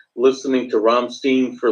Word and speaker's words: Rammstein: that's fine you can look ignorant but it's Rammstein and I understand okay she said it better